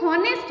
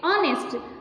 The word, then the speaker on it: honest: H has to be silent.